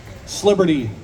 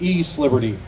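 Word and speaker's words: East Liberty: to use my Pittsburghese Sliberty. I don't know anybody that says Sliberty. I think it's actually I can think of it as E-Sliberty. Because you got to say East, but skip over some syllables.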